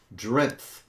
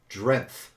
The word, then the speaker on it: Drenth: here this is drenth that is a name a Dutch name drenth probably saying it wrong but it's d-r-e-n-t-h like strength yes I went out